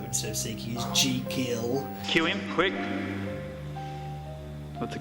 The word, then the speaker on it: Jekyll: I heard them saying Jekyll. I thought Jekyll might have been a gangster rapper or something. I wasn't sure what was going on. The correct pronunciation is Jekyll. So Jeek as in seek.